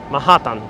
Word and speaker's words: Manhattan: of a t they may say manhattan mahatma mahatan that's how you will hear a puerto rican say oh okay everyone